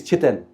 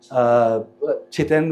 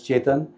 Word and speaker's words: Chiten: He's Chiten. Chiten, which gets mispronounced as Chetan.